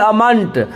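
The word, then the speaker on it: vehement: है तो क्या पढ़ेंगे भी अमानत ह का उच्चारण नहीं है सी अमानत सी अमन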